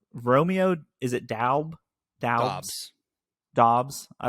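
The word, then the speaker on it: Doubs: they asked him specifically how do you pronounce it okay and he said it's Dobbs Dobbs okay Romeo Dobbs Got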